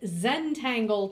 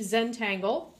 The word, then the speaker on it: Zentangle: we're going to take a look at Zentangle today that is spelled Zed n t a n GLE e Zentangle and the quickest definition I can give is